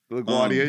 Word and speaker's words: LaGuardia: LaGuardia, yes.